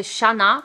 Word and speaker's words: Xana: a qui disent XANA il y en a qui disent Shanna mais je pense que ça se prononce XANA elle avait seulement 20